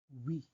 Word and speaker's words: oui: First one is oui. Oui. Okay? So the pronunciation is like W-E-E with long E sound. Although the W-E already sounds like it.